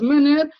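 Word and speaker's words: Menger: golf mer ou bien mer mais ça se prononce menner Carl MERER de l'école autrichienne Lyon Valras avec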